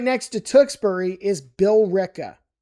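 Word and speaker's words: Tewksbury: A very common misprononunciation of this would be Tukberry. It's Tukbury. Tukbury. Trust me on this one. Tukbury. And right next to Tukbury is Bill Rick.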